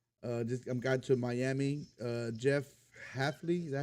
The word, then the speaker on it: Hafley: Jeff Hafley, is that how you say his name?